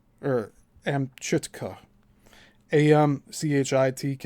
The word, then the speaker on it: Amchitka: It has let further contracts for construction of four test holes to a depth of 6,000 ft on Amikita or Amchitka AM CI TK A.